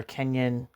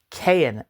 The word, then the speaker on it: Keyan: Um, the little biography here for Kenyan or excuse me, Cayenne Cayen, sorry, I was saying it wrong. Kayen G.